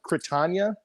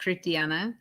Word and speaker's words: Critiana: Critania, she needs to get here so that we all Critania. It's either one. It's pronounced Critiana. Critiana. Okay, yeah, Critiana. But Critania is fine as well. That's just more Germanic.